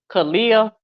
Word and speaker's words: Khia: under the 10 okay how does everyone assume my name is pronounced Khia that is correct is and last one